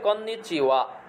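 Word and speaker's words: こんにちは: তারপরে আছে কন্নিচিওয়া, শব্দের শেষে হা থাকলে ওয়া উচ্চারণ হয়, কন্নিচিওয়া, শুভ অপরাহ্ন বা হ্যালো।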